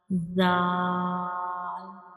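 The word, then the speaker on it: ذال: Zal. Zal. Read after me. Zal. Zal. Say it again. Zal.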